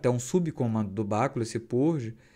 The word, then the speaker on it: purge: tá em inglês é não nem purg é purge né a pronúncia então assim é é